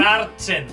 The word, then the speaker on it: Märzen: Sorry if I pronounced that wrong. Märzen.